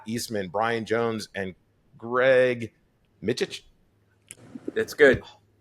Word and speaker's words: Mytych: He just changed his name and you got it almost right. He didn't have any clue how to say it, and he figured it out phonetically, and that's why I changed it slightly. It only took me 25 years to find this out. Well, because that's, I was saying it the way you say it when you met me,